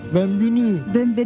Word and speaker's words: bienvenue: Bienvenue. Bienvenue a la France. Vamos a tener que ponernos mucho las pilas con el francés, porque si no, a ver cómo nos apañamos. Bienvenue a la France.